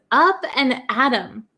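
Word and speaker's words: up and at 'em: at the first one it says up an Adam up an adom but do you understand this like uh apostrophe em so up and adom up and Adam so this one is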